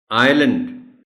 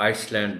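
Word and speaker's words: island: आइलैंड, एस इसमें silent है, तो आइसलैंड नहीं बोलना. ये अपने बच्चों को बताना है कि ये आइलैंड है इसका प्रोनाउंसिएशन.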